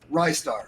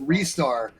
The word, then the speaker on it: Ristar: I've been Nice. told it's actually That's Restar, but It's it Ristar. sounds better if you go with Rystar. I've always gone with Rystar, but I always screw up pronunciation, Yeah, so same. don't It's ask because me. he attacks you with his wrists.